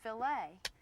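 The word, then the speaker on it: filet: If you're speaking about meat cookery, the French word f i l e t, it's pronounced filt and that's the proper way to talk about a filt of beef.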